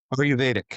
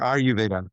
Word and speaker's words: Ayurveda: And is it pronounced Ayurveda? Is that how you say it? Ayurvedic or Ayurveda.